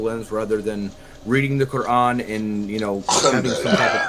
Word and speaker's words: Quran: You don't have to pronounce it like that, Justin. Just say Quran.